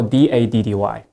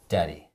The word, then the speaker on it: daddy: If, for example, D-A-D-D-Y. How do you pronounce it? Daddy. And? Daddy. So when you say daddy, it's a very swift, it's like just a tap, right?